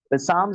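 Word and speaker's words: psalms: यानी जबूर वास द रीइंफोर्समेंट ऑफ तर ठीक है पसाम जिसे कहा जाता है पी ए एस एल ए एम ठीक है पसाम्स ठीक है एल साइलेंट करके पसाम्स इसे कहा जाता है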